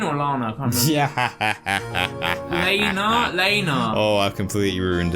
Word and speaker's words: Lana: love you too audience wait is it Lana no it's Lena oh that's why she used